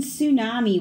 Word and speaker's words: tsunami: The charging tsunami washed away all of Tchaikovsky's tchotchkes.